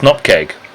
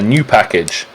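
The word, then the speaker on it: nupkg: they're asked the correct correct pronunciation of the word that is spelled n-u-p-k-g and I say it's not keg but everyone else that we've had on says it's a new package now they're obviously all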